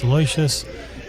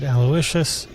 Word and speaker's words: Aloysius: I've heard his name pronounced Elicious. I've also heard Aloishious. Maybe someone in the chat can enlighten me, but I will go with Aloyas for now.